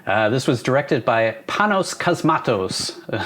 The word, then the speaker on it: Cosmatos: was directed by panos cosmatos which vince said sounds like a harry potter spell i think that's